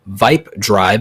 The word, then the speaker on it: VYP Drive: So my friend Viper is Viper, the man about tech, but he also has a non-tech YouTube channel, Vipe Drive, and it's spelled VYP Drive.